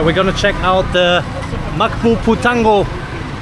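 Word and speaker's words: Magpupungko: All right, we're gonna check out the Makpo Putango. How do you pronounce that one? Makpo Ponko.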